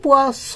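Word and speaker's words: poisson: তাহলে আমি এখানে যখন এস দুইটা দিয়েছি, পোয়াস লিখেছি যেটার অর্থ হলো মাছ, আর এইখানে একটা এস দিয়েছি যেটার উচ্চারণ হবে জ, পোয়াজ যেটার অর্থ হবে বিষ।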